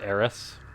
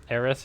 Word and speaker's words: Eris: way for both Bots I believe it is actually pronounced heiress I may switch back